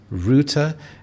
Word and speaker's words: router: The American English pronunciation is router, but in British English it is router, and this is a device that connects you to the internet.